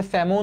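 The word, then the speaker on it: salmon: না অনেকে মনে করে স্যামন হচ্ছে স্যালমন বলে না সমন এলটা হচ্ছে উজ্য থাকে সাইলেন্ট থাকে স্যামন মাছকে আসলে অনেক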